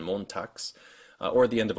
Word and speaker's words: Montags: b, v, and g into unvoiced ones like t, s, p, f, and k when they show up at the end of a word, which shows up like in Hand and Montags, or at the end